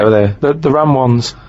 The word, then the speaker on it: Ramones: Yeah, they're- the ram ones, right? If you write that down, No, he's not even write it down. It's that's a. Ramones.